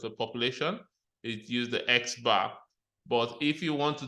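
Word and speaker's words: x̄: has the X bar usually is pronounced as X bar all right actually refer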